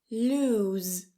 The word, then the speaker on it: lose: The second one lose lose. You hear the difference? Loose. That second word has a voiced s a t the end.